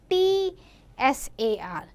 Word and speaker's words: Tsar: Sometime we write CZAR and sometime in few books you will find TSAR. But the pronunciation is Tsar.